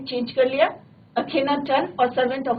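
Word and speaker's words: Akhenaten: नाम क्या रखा उसने अपना, अखेनाटेन, राइट, अखेनाटेन, राइट।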